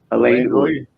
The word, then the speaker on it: Alain Uy: My name is pronounced Alain Uy. Alain Uy.